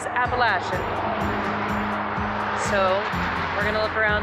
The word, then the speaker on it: Appalachian: imagine like most people, I always pronounced it the Appalachian Mountains. And then when I was in seasonal academy, my instructor was from the area and corrected all of us, and it is Appalachian.